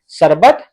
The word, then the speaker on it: शरबत: अब यहाँ पे देखिए, आपको पता है इस रेप की मात्रा का यहाँ पे जो उच्चारण होता है वो आधा र होता है।